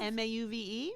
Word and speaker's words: mauve: say mom m-a-u-v-e yeah how do you say it marv mom well she's canadian sometimes we say things differently and then every canadian writes the podcast actually no it's mauve whatever my mom says latte okay my mom